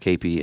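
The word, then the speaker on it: kepi: Spelled K E P I pronounced Kapy.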